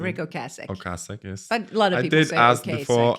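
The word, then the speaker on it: Ocasek: was a rockar yeah Rick okas if I'm pronouncing Rick okas okas yes a lot of people I did ask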